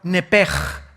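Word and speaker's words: נפש: Esa palabra alma es la palabra hebrea nepesh, así como suena. N p E s h. Nep. La palabra, la letra o las letras sh en del hebreo se pronuncian en hebreo como J.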